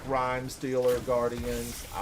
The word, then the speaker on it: Rime: It might be Rim Stealer. I think it's pronounced Rhyme Stealer. Yeah, it's spelled R-I-M-E. I think it's actually pronounced rhyme.